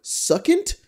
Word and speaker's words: succinct: Succinct? Succinct? Succinct. Thank you. Succinct. Succinct? No, actually, right. It is pronounced succinct.